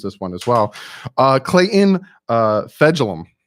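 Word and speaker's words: Fejedelem: Clayton Fegelum. That's how you say his name, Fegelum. Fegelum.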